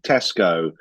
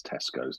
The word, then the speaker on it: Tesco: I well I do you Tesco or t tesos it's Tesco but technically you feel like it's tesos don't you yeah that's what I